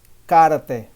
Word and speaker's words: karate: Karate, karate, karate, karate. Yes, the right pronunciation here, I'm sorry, it's karate, karate, karate.